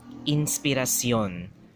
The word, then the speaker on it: inspiración: From Sion to Shon, right? Sion to Shon. Example right here. Inspiración, right? And instead of pronouncing it as inspiración, they will pronounce it as inspiración.